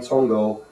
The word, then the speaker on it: Congou: this is hary's Pang tongo uh tongo is a uh fuan cantones somewhere in there uh pronunciation of kung fu Gung Fu meaning